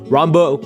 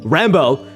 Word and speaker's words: Rambo: Rombo. Rambo. My god, dude. I literally pronounced my own name wrong. Rambo.